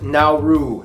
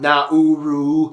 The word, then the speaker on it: Nauru: Yes, it's pronounced Nau, not Nauru.